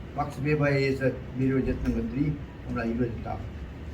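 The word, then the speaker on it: Max Weber: 그 총체적으로 정리한 사람은 막스 베바라고 하단 말이에요. 영어로 발음하면 웨버고 막스 베바에 의해서 이루어졌던 것들이 오늘날 이루어졌다.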